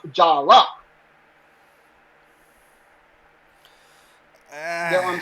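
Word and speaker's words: Jaller: name naming day so although it's spelt j-a-l-l-e-r even in the credits it's pronounced jalla you know what i'm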